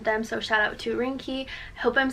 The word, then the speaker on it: Ringke: so shout out to rinky I hope I'm saying that right it's like Rin G ke that's how you say it I'm so bad